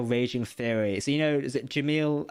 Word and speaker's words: Jamil: So is it Jamil? How do you pronounce? Is it Jamil? Jamil? Is that how you pronounce her name? Jamila Jamil.